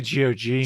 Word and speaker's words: GOG: I say GOG. GOG. Okay. Well, then last month, GOG announced a preservation program offering ongoing tech support and compatibility for classic games. If you didn't know, this GOG is a website where you can get games.